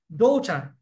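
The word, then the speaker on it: daughter: April this is April nice ডোটার ডোটার ডোটার ডোটারের এই জায়গাতে double আছে জি এইচ সাইলেন্ট থাকে এন্টিনিনা এন্টিনা এন্টেনা এন্টেনা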